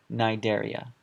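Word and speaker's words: Cnidaria: have plus phyla same idea here silence e nidaria you have to remember these two and you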